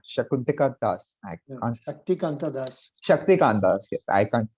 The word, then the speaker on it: Shaktikanta Das: Shakunta Das, Shakuntika Das. I can't. Shaktikanta Das. Shaktikant Das. Yes, I can't pronounce his name correctly sometimes.